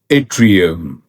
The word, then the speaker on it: Yttrium: इस वर्ड की सही प्रोनाउंसिएशन है एट्रियम, एट्रियम, एट्रियम, एट्रियम, एट्रियम, एट्रियम, एट्रियम, एट्रियम, एट्रियम.